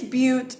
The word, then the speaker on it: Bute: say your last name it's but it's just like cute with a be amazing we got it